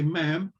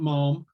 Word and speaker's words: ma'am: um if you prefer ma'am we've got to be rhyming with spam so you have to say ma'am not anything else not mom you can use that